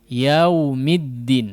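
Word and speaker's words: يَوْمِ الدِّينِ: Huruf lin ini juga, ya, huruf lin ini juga tidak betul-betul wawnya itu dihidupkan, ya, tapi yau, tidak yau, tidak, ya, yau sampai seolah hidup dia. Tapi namanya juga lin, ya, diucapkannya dengan lembut atau ringan, mudah. Yaumid, yaumi, yau, yaumiddin.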